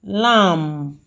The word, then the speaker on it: lamb: Number one, lamb. Lamb. The MB is underlined. Wha- The B there is silent. So, we are having only M there. So, lobby, land, baby, dam.